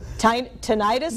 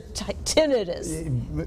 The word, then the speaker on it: tinnitus: so, tinnitus or tinnitus? Both, either? Yes. Anyway, it's ringing in the ears. Both are acceptable, yes.